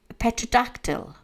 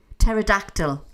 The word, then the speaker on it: Pterodactyl: How am I supposed to pronounce that? Petradactyl. Have I actually pronounced that right? But it was one of them. Asylum P. Pterodactyl.